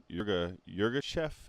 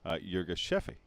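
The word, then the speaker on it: Yirgacheffe: Yurga chef is what people in the United States say. However, in Ethiopia or in the UK, it's commonly pronounced Yurga Shefe.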